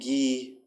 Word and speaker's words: Guy: rail is the boy we name them Gail and gee as in the French pronunciation not because he was a guy bird a few days later